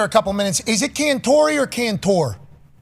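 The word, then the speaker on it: Cantore: he always called me Cantori. He goes, Cantori, when you make it to the big time, I want you to pronounce that vowel on the end of your last name.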